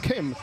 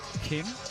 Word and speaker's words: Kim: It is here in the states and western cultures you would hit it Kim a hard K but in Korea it's more of a in between pronunciation a K and a G. Kim he got we got